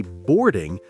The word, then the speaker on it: boarding: Notice how native speakers often say boarding more like board without the strong G sound at the end.